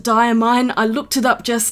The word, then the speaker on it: Diamine: So the diamine inks, they're actually pronounced diamine. I looked it up just now. I've been calling them diamine for years.